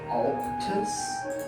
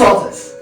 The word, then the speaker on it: Altus: Um per I believe it's just going to be um Elron and um Alus. It is Altus.